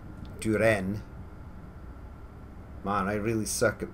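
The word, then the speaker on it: Düren: As I say, this is not Durin either. Duren.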